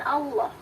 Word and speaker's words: Allah: Nah ini L-nya agak tebal. Ini pun Allah yang dilafalkan oleh orang Islam. Karena kalau kita mendengar bunyi Allah dalam yang diucapkan oleh orang Kristen, ia biasanya dilafalkannya menjadi Allah.